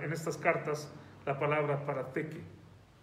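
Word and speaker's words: παραθήκη: griego, es la palabra parateke. Si se lo deletreo, podría escribirlo en español P-A-R-A-T-H-E-K-E, parateke, parateke. Ese TH se pronuncia como la lengua entre los dientes, y es la palabra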